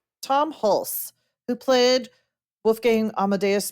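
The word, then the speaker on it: Hulce: Pulse. Tom Hulse, who played Wolf Gang Amadeus Mozart.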